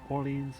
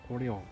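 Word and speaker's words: Orléans: It's not Orleans, it's Orleans.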